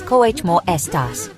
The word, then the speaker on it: cómo estás: The pronunciation is cómo estás.